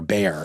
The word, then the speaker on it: Bexar: of things on paper b r bear is spelled like Bexar so just x a